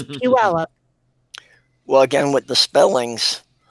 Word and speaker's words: Puyallup: pu all up because it sure looks like poyolap but it's puella well again with the